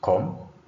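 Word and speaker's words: comb: B is not pronounced. This one is com.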